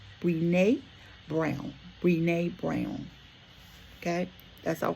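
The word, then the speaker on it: Brené Brown: And that quote comes from I believe her name is pronounced Bnee Bnee Brown.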